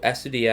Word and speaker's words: Astudillo: It's tough because I think Willians is the L. Correct. And then Astudillo is a Y.